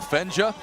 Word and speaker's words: Fenja: Team Blue, as you see right there, led by their quarterback Kyle Fenja, rhymes with ninja.